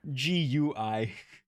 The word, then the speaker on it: Gui: GUI. GUI. Gui. Oh yeah, so it's it's Okay. pronounced right. Okay, cool. Oh yeah, Okay. it's a g noise, not a j noise.